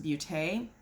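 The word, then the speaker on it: Baute: you corrected me that b-a-u-t-e should be pronounced Bute so Ace beauty is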